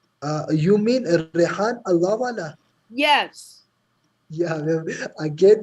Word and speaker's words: Rehan Allahwala: you follow Rayhan Alawala? You mean Rehan Allahwala?